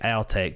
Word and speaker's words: Altec: yeah and yeah and I'm making sure to say I'll take because it's from Alabama so is that how it's actually pronounced that's what I got told by a higher up at Altec so that's why I've